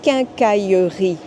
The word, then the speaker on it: quincaillerie: of the French language, and that word is quincaillerie.